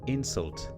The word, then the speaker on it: insult: you can see that if the emphasis is on the first syllable it's a noun if it's on the second it's a verb